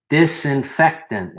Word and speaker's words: disinfectant: Disinfectant has four syllables.